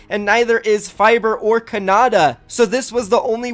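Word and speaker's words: Khanada: mispronounced his name yesterday it's not Canada it is Kannada and this kid Kannada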